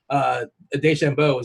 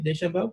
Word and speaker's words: DeChambeau: We were talking from a Vegas perspective about DeChambeau. Did I pronounce that correctly? DeChambeau?